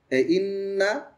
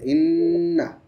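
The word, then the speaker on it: إنّا: থেকে টান ছিল হ্যা ইন্না তাড়াতাড়ি হবে ইন্না হ্যা আস্তে করে আরে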